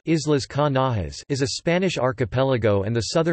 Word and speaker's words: Islas Canarias: The Canary Islands, Spanish, Isla Canarias, pronounced Islas Canarias, is a Spanish archipelago and the southernmost autonomous